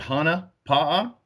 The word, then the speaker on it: Hana Pa’a: day you pronounce it Hana palm it means it's a Polynesian Hawaiian term but it that means